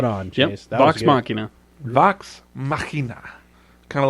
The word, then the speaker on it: Vox Machina: I don't know how to pronounce it. Nope, that was spot on, Chase. Yep, Vox Machina. Vox Machina.